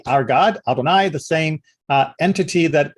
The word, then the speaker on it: Adonai: uh in verse 22 which is usually pronounced by the the word adonai uh we do not